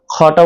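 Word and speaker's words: خاء: খটা উচ্চারণ করতে হবে গলার শেষ ভাগ থেকে মৃদু চাপ দিয়ে খটা উচ্চারণ করতে হবে, যাতে মুখ থেকে বাতাস হালকা বাতাস বের হবে এবং গলার দুই ভাগ হালকা চাপ খাবে।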